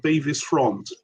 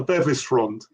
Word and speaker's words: Bevis Frond: and it seems that just about everybody uh pronounces the name of this band beis front that's everybody apart from one person and that person is Nick Solomon who says it's the Bevis frond so it's the bisr well I never knew